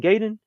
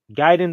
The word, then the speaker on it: Gaiden: you watch this video and you're still saying Gayden man you definitely are a negative inside your fan base we got to cut you out immediately hell no but yeah though uh so if you're saying guide in the right way then good job for you